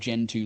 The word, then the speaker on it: Gentoo: then go and grab Gentoo Linux it's spelled like the penguin geant oo it's got an amazing